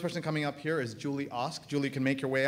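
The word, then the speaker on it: Julie Ask: Her Twitter handle is @JulieASK, but it's pronounced OSK. Julie Osk, but I hope you're following her on Twitter.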